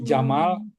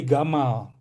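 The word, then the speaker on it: جمال: Kalau kalau orang Mesir Jim jadi G jadi Jamal itu jadi gamal.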